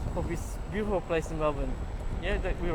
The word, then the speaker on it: Melbourne: how to say Melbourne, pronounce Melbourne, we say Melbourne. You go to Melbourne. When you go to here, the Bourne is not a Bourne, it's Melbourne.